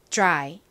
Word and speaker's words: dry: 해 볼 건데요 너무 드라이 즈즈 이렇게 발음하시면 안 되고 지을 살짝만 넣어 주셔야 돼요 따라해 보세요 dry 다시 한번 해 볼게요